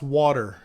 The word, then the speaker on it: water: Yeah, people not from Philadelphia, they don't know how to say it, but you say it's water. W-U, what a little hyphen thing that the people use. D-D-E-R. That's how you spell it.